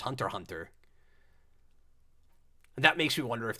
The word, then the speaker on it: Hunter x Hunter: really John Tai says you don't pronounce Axion Hunter x Hunter it's just Hunter Hunter that makes me wonder